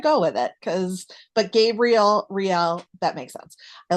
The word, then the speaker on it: Riel: I'm not gonna let me just let you pronounce your main character's name first. Or I would call him Real Brava. Riel.